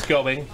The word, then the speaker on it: Gebing: We spelled his name wrong. His last name is Gebing.